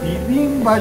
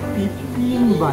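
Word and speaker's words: 비빔밥: で混ぜご飯でビビンパ混ぜるビビンバじゃなくてピビンバねおお本当あの韓国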